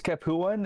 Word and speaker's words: Capuan: a look at the Capon or cap capan how do you say that Josiah it's capan it's uh it's based off the city of kapua in the south of uh Italy there you go there's